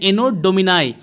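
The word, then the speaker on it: Anno Domini: ठीक है, इसको जो इसका प्रोनाउंसिएशन है एनो डोमिनाई, ANNODOMINI।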